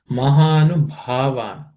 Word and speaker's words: महानुभावान्: Mahanu Bhavan. This Bha is aspirated, fourth letter in the per class of consonants.